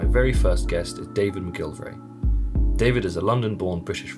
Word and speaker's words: McGillivray: I always say David McGillivray. That's how we pronounce it south of the border. Okay. North of the border, it's McGillivray. But when I pronounce it like that, then people leave out an I when they spell my name. So I say McGillivray. Okay. So they have a better chance of spelling it.